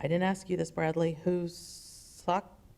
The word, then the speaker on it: Hokusai: of the, I didn't ask you this, Bradley, Hokusai? How do you say that? Oh, H-O-K? Okusai, and on the prints from the Sino-Japanese War, Sino-Japanese War of 1898.